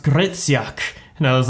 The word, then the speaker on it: Hryciuk: like oh no your your last name it's pronounced gritsyak and i was like